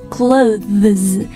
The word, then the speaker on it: clothes: 一个 z 连起来就是 clothes 但是呢它在读得特